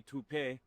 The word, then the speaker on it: Toop: Say it right. That's t o o p. That's Toap.